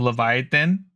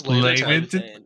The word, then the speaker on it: Laevateinn: I've been saying Flame of Leviathan, but it's Laevateinn.